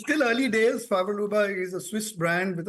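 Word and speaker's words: Favre-Leuba: entirely and two that brand that you acquired fav Luba I mean you know excuse me if I pronounced it wrong but uh how is it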